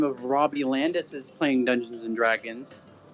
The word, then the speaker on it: Robbie Landis: Yeah, but- Robbie Landis. Hey, Roz, thanks for playing. R-O, so it's spelled ROBBIE_LANDIS.